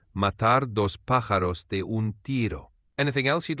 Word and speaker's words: matar dos pájaros de un tiro: For pronunciation, it's matar dos pájaros de un tiro.